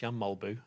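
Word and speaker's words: Jan Mølby: isn't it yam mulby that's his name isn't pronounced yamby really it's yam malbu is how you're supposed to pronounce it yeah it's how you're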